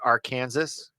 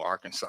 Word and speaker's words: Arkansas: Now, do you pronounce it Arkansas? No, Arkansas.